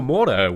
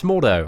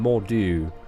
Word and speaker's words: Mordo: It's Mordo, I believe. Mordo. Baron Mordo. I think I initially pronounced him Mordu, but I'm pretty sure it's Mordo.